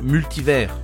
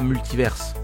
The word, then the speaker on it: multivers: Ah, et on prononce multivers, pas multiverse.